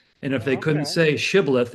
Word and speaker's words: shibboleth: say shibboleth, if they said sibboleth, you would know this was not one of your comrades.